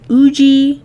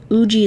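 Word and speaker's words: Ugee: I use an Uji 2150 tablet. Uji is spelled U-G-E-E.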